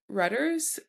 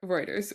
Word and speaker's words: Reuters: Um, I found this article on Ruters um by Sloan Reuters.